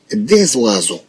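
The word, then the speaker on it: des oiseaux: طبعا هي في الحقيقة وازو، ولكن عندنا هاد اس ديال دي مع هاد كلمة وازو تنديروا لها ليزون، يعني بحال تربطوا بين الكلمات ما تنخليهمش مفروقا، يعني بحال تربطوا بالكلمتين. اذا نسمي هذا لا ليزون، لا ليزون تجي من فعل لي، لي يعني ربطة، لي او غلي يعني ربطة. اذا كاننا ننطق هاد اس، وملي تنطقوا هاد اس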